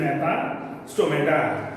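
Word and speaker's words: Gnathostomata: जीला सायलेंट ठेवा, GNA. इट इज नॅथा स्टोमॅटा.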